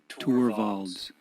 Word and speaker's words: Torvalds: And his last name is evidently pronounced Torvalds.